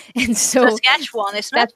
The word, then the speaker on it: Saskatchewan: It's a nice long name that no one can pronounce. The GPS always says it wrong. And so Saskatchewan, isn't it? Saskatchewan, yep.